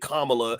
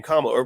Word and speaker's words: Kamala: you're a racist because you don't want to pronounce it Kamala instead of Kamala.